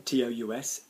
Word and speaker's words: tous: Then you will not pronounce the s.